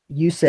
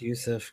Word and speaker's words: Jusuf: Yusuf, yes. Come on, get it right. No, it's Jusuf. The J is silent, my friend. It's Yusuf.